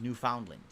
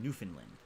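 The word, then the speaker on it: Newfoundland: part of Canada I've ever been to is New Foundland which is actually pronounced newfinland yeah why the did you say New Foundland why why you do that it's proun Newland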